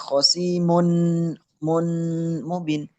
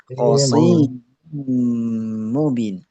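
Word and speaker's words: خصيم مبين: Kalau misalnya tidak dimasukin hanya dengung tok, bacanya khosimun mun mubin. Tidak dimasukin. Nah, kalau dimasukin khosim mubin.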